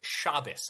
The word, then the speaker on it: Shabbos: I said that we live in a democracy where the whole video, Shabos. I've seen the entire video. Okay. Yeah, I've seen the whole thing. Also, it's pronounced Shabbos.